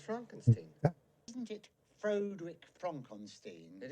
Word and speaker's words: Frankenstein: shine oh no thanks dr frankenstein frankenstein it's pronounced frankenstein isn't it frodrick frankenstein